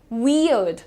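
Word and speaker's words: weird: बहुत ही सिंप्लीफाइड इसका प्रोनाउंसिएशन आप देखिए, वियर्ड, वियर्ड, अर्ड, अर्ड पे रुको, ठीक है। आर पे ध्यान मत दो आप, आपको क्या बोलना है, वियर्ड, वियर्ड।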